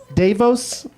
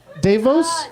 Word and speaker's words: DeVos: Davos? Davos? Davos? Davos? Betsy DeVos is a wicked shithead.